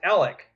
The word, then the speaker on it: Alex: Well, and just real quick, there's a town not far from Chickasha, spelled Alex, and it's pronounced Alec.